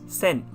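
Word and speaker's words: 千: thousand that's how you write it and it's pronounced as sen by itself but the number one thousand is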